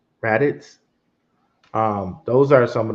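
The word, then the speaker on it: Radix: be Caspa Dag um I think it's rits I almost always say it wrong xrd r a d i x I think rits um those are some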